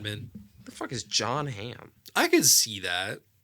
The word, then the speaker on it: Hamm: The fuck is John Hamm? I could see that. Is it ham like the ham? Ham with Hamm two with M's.